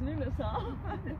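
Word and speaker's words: Lughnasadh: The Lunasar. It's a very long word, but it's pronounced Lunasar.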